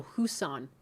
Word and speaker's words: Hussein: No, Hussein. Hussein?